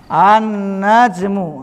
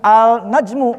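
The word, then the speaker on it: النجم: bintum setelah sukun ini paham annajmu ah dibacanya bukan alnajmu bukan paham ini perbedaan antara huruf qamariah dan huruf syamsi syamsiyah ini huruf Huruf qamariah apa?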